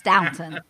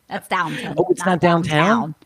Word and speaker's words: Downton: love that not Downton is it Downton Abbey it's Downton downtown no I've been saying it wrong all these Hey yeah